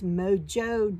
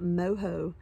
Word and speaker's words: Mojo: wrong all along so it is mojo not moho but mojo stitches and this is redwart